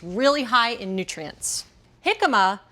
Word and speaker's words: jicama: Jicama, it's actually spelled with a J, J-I-C-A-M-A.